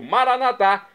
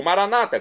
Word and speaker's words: Maranata: eu clamo do aramaico maranat como dizemos nossos católicos ou Maranata como dizem nossos irmãos separados os evangélicos ou protestantes não importa pronúncia o